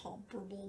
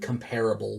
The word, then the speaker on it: comparable: Uh honestly like it is comparable which comparable comparable whatever both are correct pronunciations.